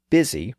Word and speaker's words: busy: The modern word busy reflects this linguistic variation. It has the spelling of the West with the letter U, but it has the pronunciation of the North and East with the I sound.